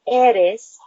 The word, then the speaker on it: eres: Tú, T-U, tú eres, and it's not a R, it's an eres, just a eres, E-R-E-S.